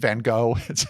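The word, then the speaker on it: Van Gogh: She handwaves Vincent Van Go. She's really, really going for it here. Yes. And pronouncing it, you know, the Dutch way, of course.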